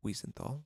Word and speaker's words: Wiesenthal: Wiesenthal, exactly.